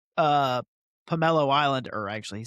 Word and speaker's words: Pummelo: I'm going to say Pomelo because that makes sense. And that's how we have learned it's pronounced.